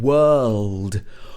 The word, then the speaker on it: world: World. World. Can you say this right? It should be plus ld. World. So this is how it's pronounced in the British accent.